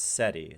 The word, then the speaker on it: SETI: ETI I don't know I know it's pronounced seti so I don't know